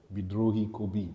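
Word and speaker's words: বিদ্রোহী কবি: called The Rebel poet bidi KU that's how they say it in the language uh and he was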